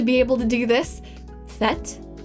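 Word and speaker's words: Tết: able to do this fet fet is is how I heard that pronounced um there's that's technically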